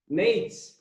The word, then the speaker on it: Nejc: because your brother, and I always get his name wrong. I don't know why I can never pronounce it right. So, Nate. His name is Nate.